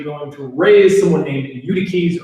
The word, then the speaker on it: Eutyches: to raise someone named Eutyches or Eutyches. I'm not sure which way you pronounce it. I think it's Eutyches, which would mean fortunate.